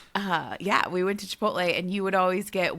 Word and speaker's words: Chipotle: Chipotle. Chipotle. You know the L comes after the T.